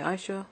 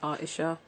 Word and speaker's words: Aesha: ich some people say I sure some people say Ayesha but it's our tisha but people don't have